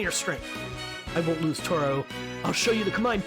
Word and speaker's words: Toraoh: was enough so i am saying it right toro just kind of gotta emphasize the a little bit more maybe blast it how